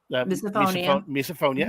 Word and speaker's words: misophonia: emma's case having um misophonia i'm still trying to get that pronounced right the wrong name category phonia so it's miso like in miso soup uh-huh phonia like okay that makes